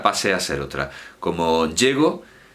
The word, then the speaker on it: llego: Como llego, llegó, pues ahí el acento es fonemático, es un fonema.